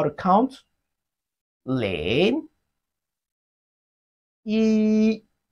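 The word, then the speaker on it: 一: sound Lane in linguistic one in Chinese is pronounced as he repeat after me he just like what you want to say if he it has a flat tone of Chinese language two in Chinese is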